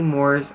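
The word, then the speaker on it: Moeur: The residence was built by the influential Moore family. Now that's spelled M-O-E-U-R.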